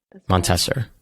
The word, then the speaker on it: Montasser: I want to make sure I pronounce it correctly. Montasser.